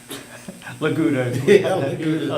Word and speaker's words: LGUDA: Laguto, it's commonly pronounced, but yes, to become effective March 24th, 2023.